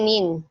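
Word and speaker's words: 您: Ini bacanya nin. Saya ubah jadi ya. Ini bacanya nin, N-I-N ya. Untuk tonsnya ini tonsnya nada kedua ya, tonsnya nada kedua.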